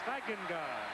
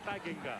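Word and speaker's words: Steigenga: Stagenga is the way the family pronounces it.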